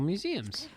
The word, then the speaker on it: Mmuseumm: These are cool museums. Sorry. Then we have the museum, and it's spelled MMUSEUMM. Okay.